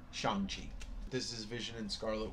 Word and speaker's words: Shang-Chi: Fu, first appearance of Shang-Chi. I said it wrong the first time, Shang-Chi.